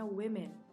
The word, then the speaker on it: women: Jadi, kalau tunggal bacanya woman meskipun pakai a, dan yang jamak bacanya women.